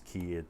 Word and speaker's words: ki: idea of chi energy ki or chi in japanese it's key in chinese it's chi um but this qi energy